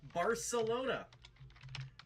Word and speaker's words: Barcelona: According to my research, the natives indeed say it is pronounced Barcelona. Take that, douchey hoi polloi summer college student travelers. Grammar Nazis, yep. They wisely rejected that Castilian ridiculousness.